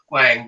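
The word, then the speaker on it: Hwang: I'm saying Wang because the H is before the W, and I want to pronounce it correctly.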